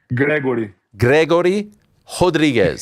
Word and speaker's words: Gregory Rodrigues: Gregory. Rodrigues. You got it. Gregory. You have to roll the R there.